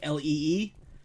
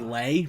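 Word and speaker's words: Leigh: not that it's uh that name l-e-i-g-h is pronounced lee like l-e-e sometimes it's like lay but it's lee leap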